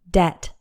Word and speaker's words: debt: back to the source this word has one syllable and the B is silent debt just imagine it's like